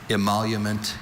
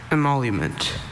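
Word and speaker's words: emolument: Imalument. Imalument. Emalment.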